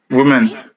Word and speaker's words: women: woman many women okay let me hear you women yeah women women women yes perfect pronunciation now okay so one woman but many